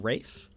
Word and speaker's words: Raph: Yeah, because it's short for Raphael. I believe as a nickname, some people call him Rafe, but that's more of a nickname. That's Raph. Fun fact, I used to pronounce my name as Rafe.